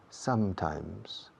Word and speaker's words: sometimes: Dos M's. Y en las dos M's se cierra la boca. Sometimes.